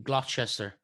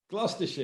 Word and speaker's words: Gloucestershire: From what I can see, you went to uni in Gloucester. Gloucestershire. Yeah. Gloucestershire. Thank you. Wow. I knew I'd mispronounced that when I saw it.